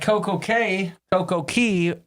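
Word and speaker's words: CocoCay: Sometimes I say Coco Key. And Perfect Day rhymes with Coco K, not Key.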